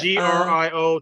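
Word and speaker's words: Griot: g or GR yeah played by g r i o t but it's pronounced Grio yeah uh played by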